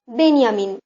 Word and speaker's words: বেনিয়ামিন: তালিকাও প্রকাশ করা হয়েছে বেঞ্জামিন নামটিকে আরবিতে উচ্চারণ করা হয় বেনিয়ামিন ইসলাম ধর্মের নবী হযরত